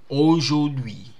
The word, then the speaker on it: aujourd'hui: Okay, so aujourd'hui, aujourd'hui. This one is silent.